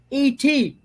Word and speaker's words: ate: and then there's this other one, E.T. E.T. phone home. E.T. is it's a past tense of eat. Of eat? So you pronounce it et.